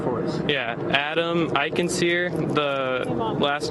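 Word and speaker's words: Eichensehr: Adam Iikensir. The last name is spelled E I C H E N S E H R.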